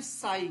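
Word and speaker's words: psi: स electronic wave and that amplitude is represented by this स ये जो मैंने बनाया इसी को बोलते हैं स क्या बोलते हैं? पीएसआई P silent.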